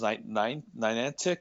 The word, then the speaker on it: Niantic: I think it's pronounced Niantic Studios or whatever. Niantic, yes.